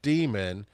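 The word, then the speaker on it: Daemon: The first book is called Demon by Daniel Suarez and it's spelled like a computer demon d a m o n and it is this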